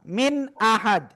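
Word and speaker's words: مِنْ أَحَدٍ: প্রথমে ইজহারে কি বলেছিলাম, মিন আহাদ, ওখানে কি শব্দের উচ্চারণটা ডাইরেক্ট থেমে যাচ্ছে, মিন। ওইটা আহাদের সাথে কোনো মিল আছে? বলেন মিল আছে? নাই, একেবারে প্রকাশ্য, কোনো গুন্নাও নাই।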